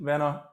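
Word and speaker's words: Wien: to werner himself uh actually vienna would be the german proper german pronunciation venna uh who are you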